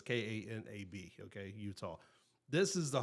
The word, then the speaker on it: Kanab: depending on where you're from or how you pronounce things, but it's Kanab, okay, Utah.